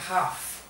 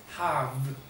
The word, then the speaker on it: have: Esta palabra no se pronuncia have, es have. Tiene que como que cerrar, have, como una V, pero como F, pero V, have.